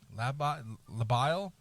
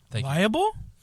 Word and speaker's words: labile: labile, L-A-B-I-L-E, labile. Yeah, I believe so. Labile. Liable? No, there's no I in front of it. That's liable.